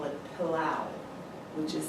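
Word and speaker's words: pelau: make this particular dish, and they call it pilau, which is spelled P-E-L-A-U.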